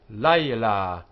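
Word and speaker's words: לילה: Note that the word for night in its standard form is layla, layla, but in the middle of a verse, it is written and pronounced layla, layla. So layla, layla. The difference here being the length of this vowel. Layla, layla. Slightly heavier sound.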